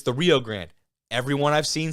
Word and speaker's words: Rio Grande: And you're going to say, oh, Kobe, it's the Rio Grande. Everyone I've seen says Rio Grande. All right, so don't come after me. That's the way they pronounce it.